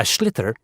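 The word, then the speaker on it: sliotar: this ball called a schlitter that's s l i o t a r so it's not spelled the way it's pronounced you hit it into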